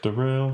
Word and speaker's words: Daryl: Derail. Spells like Daryl. Spelled like Daryl.